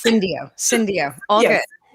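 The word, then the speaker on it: Syndio: director uh total reward strategy and solutions at Sido. Wait, I'm totally pronouncing it wrong because I totally fine. It's Cindio.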